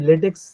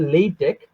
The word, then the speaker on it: LaTeX: এবং বিভিন্ন জায়গায় শুনি লেটেক্স লেটেক্স লেটেক্স এই টোনটা ইউজ করে। প্রনান্সিয়েশনটা লেটেক্স বলে ফেলে অনেকে। সো এটার যদি আমরা কারেক্ট প্রোনান্সিয়েশনে আসি। এটার উচ্চারণ হবে লেইটেক বা লেইটেক যেটা আমরা নরমালি বলি লেইটেক হবে।